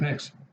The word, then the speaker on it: Knicks: There's a lot of Nicks. A whole team of them. In the NBA. Team? The New York Knicks. Because that's spelled K-N-I-C-K-S.